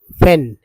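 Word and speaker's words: when: ही gets the pythons, ये एपोस्ट्रोफे है, help व्हेन, इसमें एच साइलेंट होता है।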